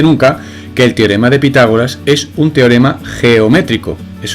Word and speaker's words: Pitágoras: x teorema de pitágoras pitágoras acento en la a al cuadrado es igual